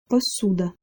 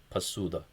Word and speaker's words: посуда: Also make sure to note that the first vowel, o, is reduced. Instead of po, it would be p in this case, pasuda.